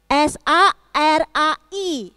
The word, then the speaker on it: Sarai: Namanya Ibu S-A-R-A-I. Apa ya bacanya? Ibu Sarai.